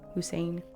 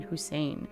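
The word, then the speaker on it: Husayn: I do like the way this is spelled. That's pretty. Hussein. Okay. H U S A Y N. Hussein.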